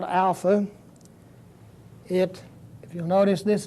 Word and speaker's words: alpha: little a in English it has the same kind of sound that an A has in English like the a in father ah Alpha is the way it's pronounced the second letter is